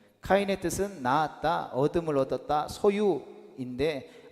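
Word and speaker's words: קין: 아벨과 가인의 원 가인의 원래 히브리어 발음은 각각 헤벨 그리고 카인입니다. 카인의 뜻은 낳았다.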